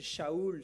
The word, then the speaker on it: Saul: Saul, ou on devrait peut-être plutôt le prononcer Shaoul, c'était son nom hébreu.